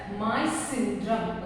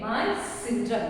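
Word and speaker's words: Mawsynram: So you have to pronounce it as Moise syndrome. Okay, Moise syndrome.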